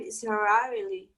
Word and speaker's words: Israeli: Raquel, Can you pronunciate again Arab Israeli? oh, just say Israel. Israel. Okay, now just say Israeli. Just add an I.